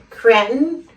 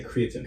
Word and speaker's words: creatinine: Some people say creatine. Creatine, okay. That's what I know it as. But my doctor and I say creatinine. Oh, okay. Creatinine. Well, he's a doctor, so I guess that's the right way to say it.